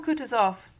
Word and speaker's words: Kutuzov: General Kutuzov, said Bolkonsky, speaking French and stressing the last syllable of the general's name like a Frenchman, has been pleased to take me as his aide-de-camp.